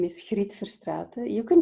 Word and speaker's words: Griet Verstraete: Would you help me again with the pronunciation? Griet Verstraete.